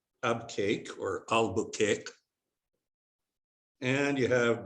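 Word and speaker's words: Abqaiq: that's bahrain and this lovely spot is called ab cake or albuquerque and you have the haran alcobar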